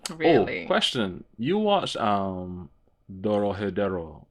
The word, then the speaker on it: Dorohedoro: You watched Dorohedero, right? Am I saying it right? Dorohedoro?